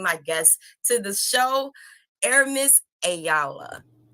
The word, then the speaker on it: Aramis Ayala: guests to the show air miss ayala aaron i said your name correct you did you said it right you said it like